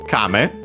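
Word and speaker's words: 亀: Uh and then we have uh game actually from Kame accent on the first syllable which is the Japanese word for uh turtle also tortoise.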